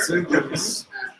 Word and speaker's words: Xoogler: It's pronounced Xooglers for sure. Xooglers.